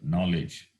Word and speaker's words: knowledge: Say, for example, knowledge, Knowledge. K doesn't have sound, silent, knowledge.